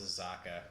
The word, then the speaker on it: Osaka: And by the way, before you drive me crazy anymore, it's Osaka. Yeah, you got it? Yeah. The pronunciation.